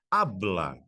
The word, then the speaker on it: habla: Habla. Ah, mas aqui ficou com H. Sim, por causa da pronunciação, porque o H não faz barulho.